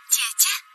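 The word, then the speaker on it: 姐姐: Jie-jie. Jie-jie Faye.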